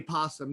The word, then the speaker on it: opossum: Her name is Mabel, and she is a Virginia opossum, but you don't pronounce the o. You just say possum.